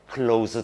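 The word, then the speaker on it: cloze: 이 발음이 close, z 사운드가 난다고. 그래서 요거를 어떻게 close task라고 이름을 붙인 거예요.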